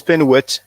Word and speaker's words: Punt: Punt is Penuet in Medu Neter actually, and it is written.